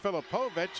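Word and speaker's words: Filipovits: And again, he spells his name Filipoviti, but it's pronounced Filipovic.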